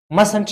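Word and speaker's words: mustn't: इसी तरह से मस्ट है, यू मस्ट subscribe to my channel, मस्टंट यू। दोस्तों यहाँ मस्ट में जो टी है वो आपने साइलेंट करना है, मस्टंट यू आपने कहना है।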